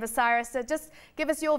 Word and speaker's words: Bucyrus: you know and now we know how to pronounce that name osiris so just give us your view on spain